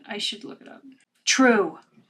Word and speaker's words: Trve: True. Pronounced true.